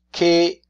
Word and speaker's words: che: That's the only way in Italian you can express the sound k with an I or an E. Chi, C-H-I. Che cosa?